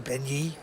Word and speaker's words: Benyi: All right, right back on Robbie Benyi. He looks down at a pretty attractive ace-9 of clubs, Phil. How do you pronounce that last name?